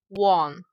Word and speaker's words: Wang: The pronunciation of Wang in English is Wang.